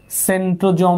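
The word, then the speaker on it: centrosome: যে এটা হচ্ছে কি সেন্ট্রোজোম বা সেন্ট্রিউল সেন্ট্রোজোমই লেখো সেন্ট্রো জোম এটা অনেক সময় সেন্ট্রোজোমও বলে সেন্ট্রোজোম এস এর উচ্চারণ জ্বর মত হয় স্বর মতো হয় এরপর এটা হচ্ছে এন্ডোপ্লাজমিক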